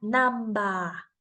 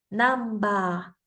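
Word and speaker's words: ナンバー: p o la B un ejemplo de esta palabra sería namba namba con Aunque tiene sonido tiene la m vamos a sustituirlo por la m y decimos namba namba que en inglés significa número number con esto vimos también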